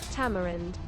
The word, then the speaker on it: tamarind: So basically, the British say ta, ta, ta, ta, ta, and the Americans say te, te, te, te, te, te, te, te. The rest is the same.